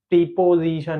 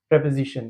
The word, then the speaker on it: preposition: प्रीपजीशन नहीं होता है। इट is pronounced प्रेपज़िशन।